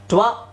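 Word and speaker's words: two: ಏನಾಗುತ್ತೆ ಓ ಅಂತ ಆಗುತ್ತೆ ಇದನ್ನ ಟು ಅಂತ ಹೇಳ್ಬೇಕು ನಾವು ಸೊ ಟಿ ಡಬ್ಲ್ಯೂ ಓ ಟು ಸೊ ಡಬ್ಲ್ಯೂ ಉಚ್ಚಾರಣೆ ಆಗೋದಿಲ್ಲ ಡಬ್ಲ್ಯೂ ಸೈಲೆಂಟ್ ಆಗುತ್ತೆ ಅಲ್ಲಿ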